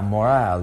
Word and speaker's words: morale: Now, morale, the pronunciation, be careful with this E at the end.